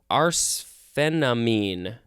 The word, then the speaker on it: arsphenamine: We are going to move on to arsphenamine. Let's double-check the pronunciation.